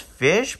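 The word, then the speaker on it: Ghoti: one of the new goatee cards it's actually pronounced fish but I forgot the reason behind it but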